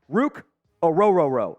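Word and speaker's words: Ruke Orhorhoro: in this mock draft Rook a rororo out of Clemson that that is how it is pronounced by the way uh the the Clemson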